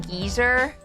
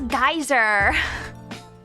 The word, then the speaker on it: geyser: You already became geezer? Silly Kargot, that's geyser. That's how they pronounce it.